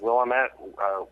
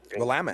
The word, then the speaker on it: Willamette: I think I've got Portland, Oregon, or I always forget how to pronounce it. Willamette. Willamette.